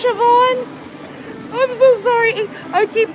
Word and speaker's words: Siobhan: It's like Siobhan. It's Siobhan, right? Like Yvonne? It's S-I-O-B-H-A-N. I think it's Siobhan.